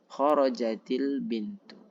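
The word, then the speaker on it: خرجت البنت: Kharajat al-bintu, keluar seorang gadis perempuan. Nah, gimana membacanya? Sukun bertemu sukun. Maka membacanya adalah memberi harokat kasrah. Kharajatil bintu.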